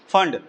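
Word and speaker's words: Pfund: एक और साइंटिस्ट जिनका नाम था फंड है ना पी एफ यू एन the piece silent है ना फंड वो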